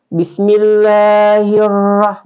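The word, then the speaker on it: بِسْمِ اللّٰهِ الرَّحْمٰنِ الرَّحِيْمِ: Jadi bismillahir itu bukan bismillahil. Langsung masuk ya, ini tebal, dibaca tebal. Bismillahirrahmanirrahim, tidak boleh bergetar.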